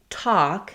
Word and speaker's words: talk: Talk has the A vowel. So I'm not saying talk, I'm not closing for that L, but because of that spelling, we do have that A sound here. Half, again, doesn't have that same pattern.